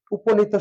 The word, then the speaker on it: উপনীত: আমরা লিখি উ প উপ, উপ নি তো, উপনীত। এই অয়ের পরে কি আছে দীর্ঘ ইকার, এই জন্য পটা ওকার হয়ে গেছে। আর বলা হয়েছে কোন শব্দের শেষে যদি ত থাকে অধিকাংশ ক্ষেত্রে ও হয়ে যায়, উপনীত এভাবে উচ্চারণ হয়।